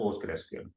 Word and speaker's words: PostgreSQL: usually it's called postgres so it's not post three DB is post gresql or postgres that's the two names you have to pronounce and they told that